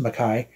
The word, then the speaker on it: McKay: album came out uh Nelly Makai yes it's spelled like McKay but it's actually pronounced Makai she is a British